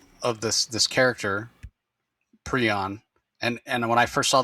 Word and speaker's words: prion: And that's pronounced prion. Okay. But the bird is pronounced prion. So okay. If you're curious, Rocky is saying it correctly. Prion, as opposed to if you say prion, you're talking not about the bird, but about those malformed proteins.